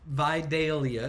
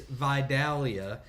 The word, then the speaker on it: Vidalia: there and so uh you got Vidal Vidalia is how they're saying it and here it's Vidalia and there who knows